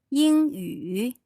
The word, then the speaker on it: 英语: Okay, English, if we're talking about English, would be 英语。英语. So that's a first tone and then a third tone.